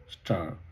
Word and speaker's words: stir: আর নাড়াচাড়াকে বলা হচ্ছে স্টার, যদিও বানানটা STIR, কিন্তু প্রোনাউন্সিয়েশনটা স্টার।